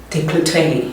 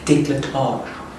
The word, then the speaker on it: décolletage: bit more into my décolletage. Is that how you say it? Yo, I don't know. I think that's how you say it. Décolleté. It's definitely not décolleté. It's décolletage. Okay, so I can feel like that it is working.